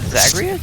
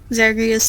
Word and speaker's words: Zagreus: I think it's just Zagreus. Just going by, like, other rules that I know about of like Greek pronunciation stuff.